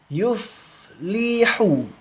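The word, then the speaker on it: يُفْلِحُ: Yuf yuflihu. La yuflihu. Hati-hati ya membacanya. Coba sambil dipraktikkan teman-teman ya membacanya. La yuflihu. Dialirkan fnya fa sukun dialirkan jangan dipantulkan. Kalau dipantulkan salah.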